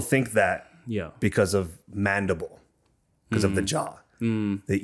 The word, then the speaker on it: Mendibles: You pronounce mandible, you don't pronounce it mandibles. However, when I first saw that word and when I was reading in school, Yeah. I read it as mandibles. Okay. Mandible. Gotcha. Right, because that's how I pronounce my last name correctly.